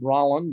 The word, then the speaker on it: Rolland: of things uh it it's pronounced rolling dot i apologize i'm